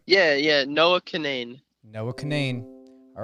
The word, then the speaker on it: Cunane: And I'm pronunciating your last name correctly, right? Yeah, Noah Cunane.